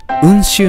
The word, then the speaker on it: 温州: んですけれども勉強温州こんな感じに中国の指から温州と読むようになったっていう説